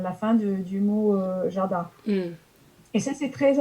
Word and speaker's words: jardin: écrit le jardin d'été, ils vont dire le jardin d'été. Parce qu'ils vont prononcer le N en Hmm.